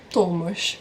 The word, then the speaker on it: Tomasz: pessoa, por exemplo, chama Tomasz, porque o Thomas aqui eles chamam de Tomasz, com SZ no final.